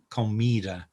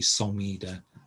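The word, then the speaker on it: comida: of it's often obvious commedo uh you'd never say somida una corta um you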